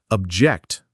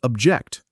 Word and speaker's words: object: A classic example is noun verb pairs like object, noun, stress on the first syllable versus object, verb, stress on the second syllable.